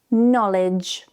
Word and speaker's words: knowledge: If you see K and N at the beginning of a word, the K is silent. So the word knock is not pronounced as knock, but knock, knock. No, knee, knowledge.